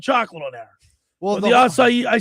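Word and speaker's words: açaí: Well, the acai, I said acai because I never said it before.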